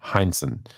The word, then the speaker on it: Heinsohn: Bob Cousy, Bill Sharman, Tom, I always say his name wrong, Heinsohn, Frank Ramsey.